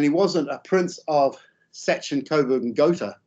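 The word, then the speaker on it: Sachsen-Coburg und Gotha: wasn't a prince of Sachin Coburg and gota which is the German pronunciation he was just Albert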